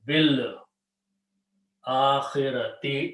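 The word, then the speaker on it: بالآخرة: When you read together, this alif is not pronounced. You say bil akhirati, in the hereafter.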